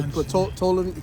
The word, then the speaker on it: Ptolemy: Yeah, Ptolemy, it's like Ptolemy. That's niggas say pronounce the P.